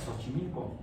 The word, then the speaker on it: Xochimilco: Xochimilco es con S, bueno, suena como si fuera ese, Xochimilco.